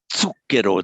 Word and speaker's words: zucchero: Because I mean, for instance, an initial Z in Italian is pronounced like a ts, as in zucchero, the ts.